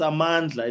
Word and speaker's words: Amandla: And no one knows how to pronounce her name. It's Amandla.